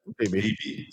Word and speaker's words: Beebe: that hit against Don Beebe, or how you pronounce the guy's last name, the guy for the Bills, the old receiver. Yeah, Beebe. That's right. Yep, Beebe.